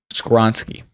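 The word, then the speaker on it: Skoronski: Skoronsky.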